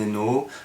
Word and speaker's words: Hainaut: bonjour je m'appelle hainaut a h1n1 mutés pas comme la province je suis belge et